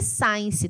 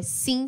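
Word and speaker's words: since: então reparem que sim a pronúncia não é Science tá gente tomem cuidado é sim si mesmo Sim significa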